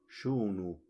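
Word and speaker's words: xu: es la x y la x se pronuncia tal como se pronunciaba en el español antiguo que es sha como la sh inglesa Entonces tal como antes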